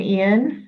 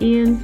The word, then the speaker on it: Ian: And yes, it's pronounced Ian, not Ian.